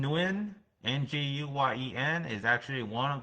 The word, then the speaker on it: Nguyen: Or Nguyen, win, like I win the game.